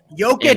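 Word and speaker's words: Jokić: Jokic, And, you said it right.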